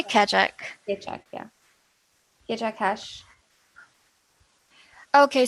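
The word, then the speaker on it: Keccak: Skandesh is asking, so each transaction creates a unique how do you pronounce Kachak. I say Kachak.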